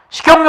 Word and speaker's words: 식용유: 식용유 같은 경우도 잘 봐야 돼요. 이거 시험에 잘 나오거든요. 이런 거. 자, 식용유 이랬을 때, 자, 식용유 같은 경우 발음해보면 시, 경, 뉴로 갔어요. 뉴.